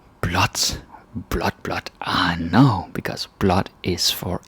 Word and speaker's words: blåt: So you say blot. And yeah, the pronunciation changes from blå to blah, and like blah. That sounds funny, but it becomes blot.